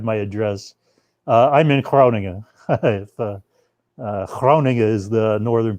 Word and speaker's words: Groningen: Groningen is the northern pronunciation of where the town that I'm in.